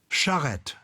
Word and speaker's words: charrette: So a charrette is a sudden burst of activity in order to get things done, and it's spelled CHARETTE. Charrette, charrette, a charrette.